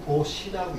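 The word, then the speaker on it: 布施: 여기 간자가 다른 게, 이거 원래 요거 포자인데 요거 불교에서는 보시라고 읽습니다. 포라고 읽지 않고 보라고 읽어요.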